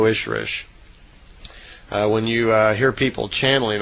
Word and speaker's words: Ishrish: And a female Ishwish is called an Ishrish, I-S-H-R-I-S-H. So in effect, Semjases is an Elo Ishrish, is how they would pronounce it in her language.